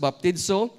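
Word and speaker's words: βαπτίζω: definition immersion so baptizo is that's how it's pronounced baptizo it's defined as to dip regularly or immerse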